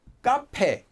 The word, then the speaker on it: 카페: Although 카페, the word for cafe, is spelled as 카페, it's pronounced as, always, it's pronounced as 카페. 카페. So this is an example of a word that is spelled differently than how it's said, and it has nothing to do with sound change rules.